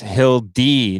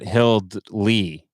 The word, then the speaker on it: Hildy: Hildy says it's pronounced Hildy, not Hildley.